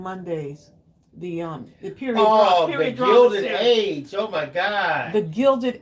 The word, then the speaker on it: Age: The Gilded Age. Not Edge, Age. Age. Yes, Age.